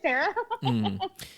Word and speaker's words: Coursera: Coursera, it's course, ERA. Okay, thank you. With an H? ERA, so COUR, course, like class, course.